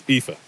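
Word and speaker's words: Aoife: numeral page 26 people's names first aif it's FIFA FIFA still a common name in Ireland today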